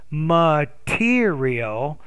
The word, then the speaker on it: material: while my professors explained you didn't clearly pronounce that word specific material the second reason that's the word the specific material material right so it's material so you have to do better on that stress syllable there is that i could